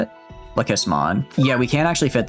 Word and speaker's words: Lekismon: I guess we could also, could we fit Lesikmon? Is that how you say it? Lekismon.